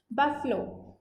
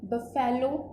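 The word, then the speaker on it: buffalo: बफलो, अच्छा इसकी pronunciation आप देखिए, बफेलो नहीं होती, बफलो ये होती है इसकी प्रोनाउंसिएशन।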